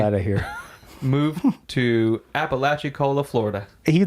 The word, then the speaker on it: Apalachicola: moved to Apalachicola, Florida. He pronounced it right this time.